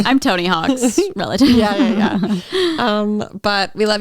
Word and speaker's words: Houck: Yeah, it's like it's spelled Houck. Oh, interesting. So kind of reminds me more of like hawkaloogie and not like a hawk in the sky.